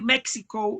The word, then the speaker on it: México: Mm, Esa J y esa X es como decir México y México, ¿sí?